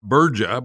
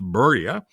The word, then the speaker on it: Burja: in pdf form for free at samo samo burja but pronounced berya b-u-r-j-a-dot-com if you like what you hear here